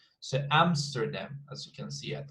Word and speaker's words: Amsterdam: 3 syllables, we've got the stress in the first one. So Amsterdam, as you can see at Amsterdam.